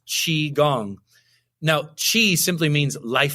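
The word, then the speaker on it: qigong: part about chiong is like saying it like Chiang like what what is this it's spelled Qi g n g and it's pronounced chi gong now Chi simply means life force energy life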